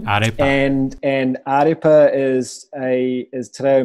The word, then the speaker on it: Ārepa: So it's pronounced Ārepa. Ārepa.